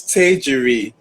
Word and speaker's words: Tejiri: right, because I'm like, this is how Tejiria is right. That's it, right. No, my name is Tejiri. Say it after me.